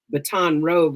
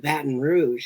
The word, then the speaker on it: Baton Rouge: And he said baton rogue or something like that. And I was like I was I said what did you say? And he said it again and I was like what's that? He was like you ain't never heard of you know and then he said it again and I was like oh we call it Baton Rouge.